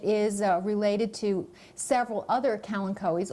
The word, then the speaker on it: kalanchoe: This plant is called a Kalanchoe blossfeldiana, and it is related to several other kalanchoes, also sometimes pronounced kalanchos, that make excellent succulent houseplants.